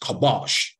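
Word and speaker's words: כבש: And in subduing, subduing is pronounced kabosh.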